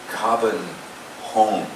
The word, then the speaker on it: Copenhagen: The actual pronunciation of the city of Copenhagen or Copenhagen is Copenhagen.